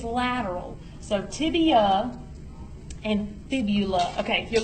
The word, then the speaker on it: tibia: Tibia doesn't have an L. Go back. People, I hear people pronounce it wrong, but you're not going to do that. You're going to pronounce it tibia. T-I-B-I-A.